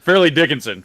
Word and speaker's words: Fairleigh Dickinson: How the hell do you pronounce it? Fairleigh Dickinson.